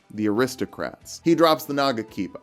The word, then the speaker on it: Nagakiba: He drops the Nagakiba, one of several weapons with the same syllable emphasis as Mamma Mia by ABBA. Try it at home. Nagakiba.